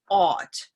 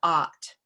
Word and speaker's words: ought: The word ought is also sometimes pronounced with this "Auburn Dog AW" sound that some native speakers have in their dialect or accent. So it can sound like awt as opposed to aht: Awt ... aht ...